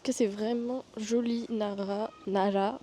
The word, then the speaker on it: Nara: c'est vraiment joli Nara Nara je vis le prononcer à la japonaise les r se prononcent entre le L et le r je vais chercher un